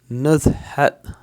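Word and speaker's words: نزهة: Walk, outing या trip इसको कहा जाता है नज़हत, नज़हा या नज़हा, नज़हत या नज़हा, कुछ लोग इसको नज़हा ही पढ़ेंगे, नज़हत भी पढ़ेंगे, थोड़ा सा प्रोनाउंसिएशन में जो है लहजों के हिसाब से थोड़ा सा फ़र्क रहता है।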